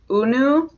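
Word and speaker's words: Hunou: The H isn't pronounced, isn't it? Like Unu?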